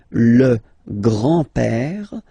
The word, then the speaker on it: grand-père: Le grand-père. Remember, E accent grave like that. It's this opened père.